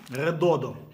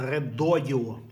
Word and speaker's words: Redodo: ти яка здорова бандура написано редодо але ні бренд називається редодіо запам'ятовуйте редодіо так воно читається так вони собі придумали